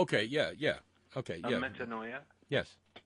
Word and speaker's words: metanoia: metanoia? Yes. It rhymes with paranoia.